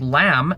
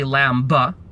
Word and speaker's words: lamb: B bah yes but if we have a word like lam L AM B we don't say Lamba we don't say that and so I do